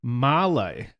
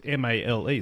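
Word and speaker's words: Malé: Ocean and specifically from the capital Mallay which is spelled m a l e so I thought it was pronounced male when I first read it and had to look it up oh Henry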